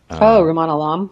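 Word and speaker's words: Rumaan Alam: out by, and I don't know how to pronounce his name, Ruman. Ruman Alam?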